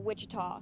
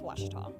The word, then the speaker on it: Ouachita: University back in Texas everybody pronounces it Wichita but really it's Ouachita Washington how would you